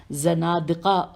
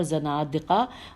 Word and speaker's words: زنادقہ: صادق علیہ السلام اور زنادقہ و ملحدین کا سامنا۔ میں ہجے کرتی ہوں، زین نون الف دال قاف ہے، زنادقہ و ملحدین میم